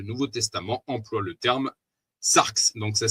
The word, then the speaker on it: sarx: Tout ceci devient plus clair lorsque l'on étudie de quelle manière le Nouveau Testament emploie le terme sarx. Donc ça s'écrit S-A-R-X, habituellement traduit par chair.